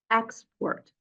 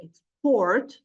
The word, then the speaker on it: export: for example this word if you stress the first syllable it will be a noun referring to a concept export but if you move the stress to the second syllable it will be export expressing in action so again this affects